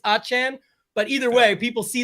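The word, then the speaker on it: Achane: achen as we found out from Shafter you pronounce his name it's not a chain it's achan but either way people see that yesterday and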